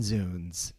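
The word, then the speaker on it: zounds: It's pronounced zs and zuns.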